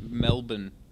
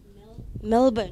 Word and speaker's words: Melbourne: It's Melbourne. Melbourne. Melbourne. Don't let the O fool you, and also don't let the U fool you either, or the R.